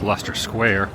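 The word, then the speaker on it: Leicester Square: over to Picadilly there's luster Square also spelled nothing like if you would pronounce it well at least I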